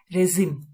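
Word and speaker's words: regime: Next है हमारा, इसकी प्रोनाउंसिएशन है रेजिम।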